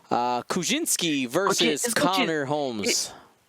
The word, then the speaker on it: Kuczynski: It's Kuczynski. I don't know how to pronounce many European surnames, but we have had a president with that last name, so I know how to pronounce. Yeah, it's Kuczynski.